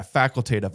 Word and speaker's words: facultative: Yeah, facultative. I always screw the pronunciation of that up.